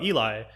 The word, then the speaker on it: Eli: letters and phonetic well it's three letters but two of those three letters are usually not pronounced that way I mean that's true so I can understand how you get to Ellie but also like to